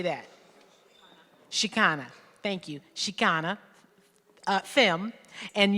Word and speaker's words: Chicana: Chicana, thank you, Chicana, femme, and uses she, her, hers, Ella, or they, them pronouns.